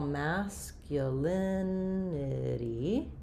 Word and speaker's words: masculinity: So, first of all, masculinity, there's another flap sound like we were talking about. And this is stressed on the uh second to last syllable.